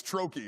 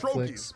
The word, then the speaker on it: trochee: I ask because I don't know how to pronounce it. So I'm just gonna. I think it's trochee is what I think it is.